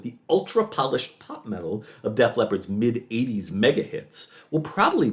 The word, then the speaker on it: Def Leppard: But it was, that was just me mispronouncing. No, I know, but I like Deef Leopard more than Def Leppard.